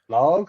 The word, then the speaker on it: Lage: But credit to Bruno Lage, is that we're pronouncing it?